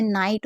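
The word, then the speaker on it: night: और नाइट में आप जानते हैं यहां पर जीएच है तो जी एच को तो पढ़ेंगे ही नहीं और टी को टा पढ़ेंगे। हमेशा याद रखिएगा कि जी एच से पहले आई है तो आई को आई पढ़ेंगे।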